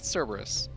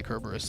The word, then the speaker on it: Cerberus: Because I'm looking at the name, and I think it's Cerberus. Yeah, it's fun to say Kerberos though.